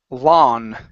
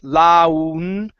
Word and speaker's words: lawn: Right here we have the word lawn. Okay, when you have an A and a W together, we do not pronounce an U sound. So instead of saying laun, it's la-n, lawn. Lawn.